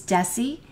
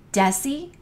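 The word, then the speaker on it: deci: our meter and then the D in drinking is desie notice everything to the right of the meter or the unit has a soft C Sound desie and centi centi is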